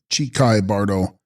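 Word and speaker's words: Chikhai Bardo: Text: Hichai Kahi Bardo, pronounced Chikai Bardo, intermediate state or state of uncertainty of the dying moment or moment of death.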